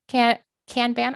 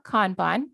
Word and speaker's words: kanban: use a scrum marketing kanban or kanban depending on how you like to pronounce it content all kinds of